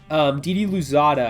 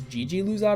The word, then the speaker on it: Didi Louzada: Didi Louzada, actually, I just looked that up. It's Gigi Louzada, I think is how you pronounce that.